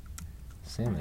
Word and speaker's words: salmon: Let me Yeah, we're gonna how to say salmon. pronounce. No, in salmon the L is referred to as the silent L.